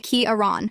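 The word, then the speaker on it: Ciarán: for about a year my given name is Kiran yes it's spelled with a c and a f over the A and yes it's pronounced roughly kearon when I arrived at my new high school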